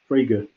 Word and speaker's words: Frege: So Frege came back in, and we now know how to pronounce him, right? Frege.